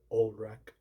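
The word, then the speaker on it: Ulrich: It always sound like Elrich instead of Olrich. Olrich or Olrich. Cuz it's spelled U L R I C. Then that's how you spell it. I always sound like Elrich instead of Olrich.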